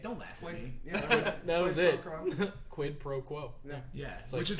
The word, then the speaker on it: quid pro quo: up it's what is it quid quote pro or whatever i can't how do you say it don't laugh that was it quid pro quo yeah yeah so which is literally like i